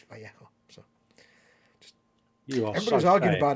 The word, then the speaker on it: Vallejo: of days ago, and asked them how to pronounce their name, and they said it's Vallejo.